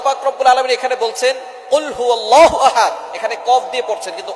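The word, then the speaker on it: قُلْ هُوَ اللَّهُ أَحَدٌ: আল্লাহ পাক রাব্বুল আলামন এখানে বলছেন কুলহু আল্লাহু আহাদ। এখানে কফ দিয়ে পড়ছেন কিন্তু অনেকেই ভুল করে উচ্চারণ সঠিক না হওয়ার কারণে তারা পড়ে কাফ দিয়ে।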